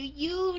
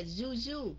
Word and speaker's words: you: Các anh chị người Bắc phải cẩn thận, có nhiều người cứ đọc là Zuzu, không phải là Zuzu, mà là you. Mà đọc theo chữ D của người nam mà đọc điệu điệu chút xíu, you.